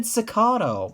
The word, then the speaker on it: cicada: not how I pronounce cicada that button is how I can is how what cicas sound like wait what he said sakato what the hell they do say that in Britain s maybe Australian no